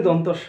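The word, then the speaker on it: দন্ত্য স: তারপর এটা কি, এটা কি দন্তস্য বলি আমরা, শুদ্ধ উচ্চারণই দন্তস্য না, আসলে দন্তস্য নয়, এটা দন্ত স, দন্ত স, দন্তস্য নয়।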